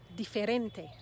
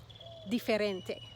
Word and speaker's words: diferente: inside it how about diferente diferente that word looks very much like our word different which is it is the same word but we're pronouncing all of the vowels let's add another word